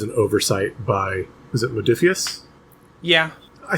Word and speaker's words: Modiphius: And I think that was an oversight by, was it Modiphius?